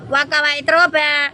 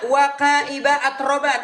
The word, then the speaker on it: وكواعب أترابا: وكواعب أترابا bukan wakawa atroba. Wakaiba atroban. Apa artinya? Salah bacanya salah.